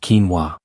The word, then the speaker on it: quinoa: You might have heard of quinoa, pronounced quinoa.